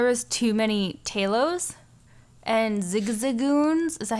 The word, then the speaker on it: Zigzagoon: Starting out, I found there was too many Talos and Zigzagoons.